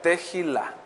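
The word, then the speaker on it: תהילה: que estudian y anotan así como se escucha teila teil con acento en la a y J esta palabra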